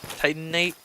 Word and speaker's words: Titanite: I don't know why I'm sort of forgetting to pronounce the extra T. Titanite. It's almost like I'm putting an N instead of T.